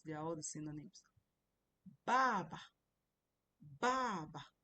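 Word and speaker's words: 爸爸: Baba baba. You can see my pronunciation of baba. It's not baba is baba. The other ba is is toneless. Toneless doesn't have any tone which means father.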